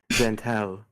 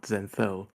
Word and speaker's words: Zentel: do well firstly hit zentel not zenel zel okay zentel right